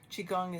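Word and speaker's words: qigong: Chiong is spelled qi. one word. Second word, gong. G O N G.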